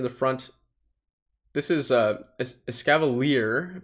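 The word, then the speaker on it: Escavalier: counter user in the front this is a scavalier pronouncing it correctly now um is or was probably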